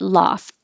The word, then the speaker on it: loft: pulled back love loft i'm not going to release the tea unless there's a vowel after it loft i live in a